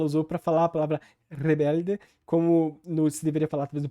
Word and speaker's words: Rebelde: português brasileiro Ou seja a ditongação do l a palatalização do d o a pronúncia do e final como i e também a suavização